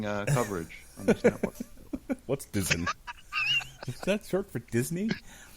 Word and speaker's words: DAZN: It's currently operating like DAZN, where if it's live, What's that? It's a boxing. DAZN is how it's actually pronounced.